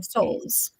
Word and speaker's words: Soules: this is Hannah and Hannah could you uh pronounce your last name for us Justine Souls Souls I forgot that right the first time